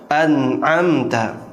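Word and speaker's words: أَنْعَمْتَ: Contoh misalnya siratal ladzina an'amta alaihim, an'am. Ini salah ana. Harusnya an'amta. Itulah pengertian dari izhar, huruf-hurufnya, cara membacanya, dan sebab terjadinya.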